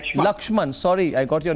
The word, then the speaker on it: Lakshman: caller today is laksham from Baroda from Baroda laksham lakshman sorry I got your name wrong how are you lakshman you're watching this